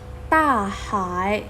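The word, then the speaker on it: 大海: ว่า ยัง ไง เอ่ย และ ทะเล ออก เสียง ว่า ถ้า หาย ต้า หาย ใช่ ไหม คะ ต้า หาย เพราะ ฉะนั้น เรา ก็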